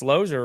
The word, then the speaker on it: Loser: answer and it'd be you know is Mr loser there we always knew if a Salesman was